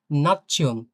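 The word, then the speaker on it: Nation: তো এই ক্ষেত্রে আমরা ডয়েচে পড়বো নাচ্ছিয়ন, নাচ্ছিয়ন। হ্যাঁ, না, হ্যাঁ, নাচ্ছিয়ন, অনেকটা এমন পড়বো, ছিয়ন, নাচ্ছিয়ন।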